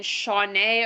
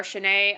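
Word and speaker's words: Shaunee: attachment issues and then shawnee or shanae i've seen people pronounce it different ways i'm just going to continue to say shaunae uh she's a sassy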